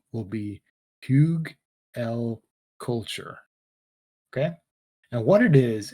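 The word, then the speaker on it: Hugelkultur: k u l t u r so english pronunciation will be pug l culture okay and what it is is it's a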